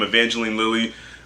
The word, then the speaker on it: Evangeline Lilly: Is how you say her name, Evangeline Lilly.